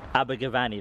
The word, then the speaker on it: Abergavenny: Abergavenny. That's where we are. I don't want to mispronounce the place where I'm visiting.